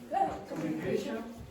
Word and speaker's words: communication: Communication. So, the the primary stress is on the fourth one. K. The secondary stress is on the second mu.